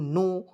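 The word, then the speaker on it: know: हैं के एन ओडल नो के को इसमें साइलेंट कीजिएगा एओड को क्या पढ़ेंगे नो तो के एओ डब् को क्या पढ़ा जाएगा दोस्तों नो पढ़ा जाएगा क्लियर यहां तक उसी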